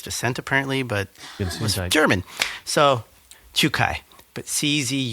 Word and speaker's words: Czukay: Uh Chu Kai, I think is how he says it. It's it's a Polish name, but it's I guess pronounced in a Germanic way cuz he's of Polish descent apparently, but German.